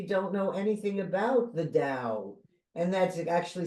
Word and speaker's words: Tao: listeners that maybe don't know anything about the da and that's actually spelled ta o but pronounced d AO yeah D and and you